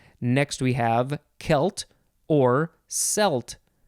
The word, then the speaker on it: Celt: we have celt or celt most people say celt it is capital c-e-l-t but it looks like it is pronounced selt and some people say that and that is okay this is a noun